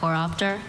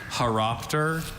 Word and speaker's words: horopter: Haropter or Horopter. Okay. Wish I got kiteness. So many information. Sure. Haropter. Horopter are the pronunciations I have.